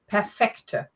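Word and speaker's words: perfekt: perfect Veta for langlo perfector so emphasis on the second syllable perfect that would have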